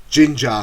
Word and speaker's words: Jinjer: emma ukraine extreme metal band ginger spelt with a j so let's get straight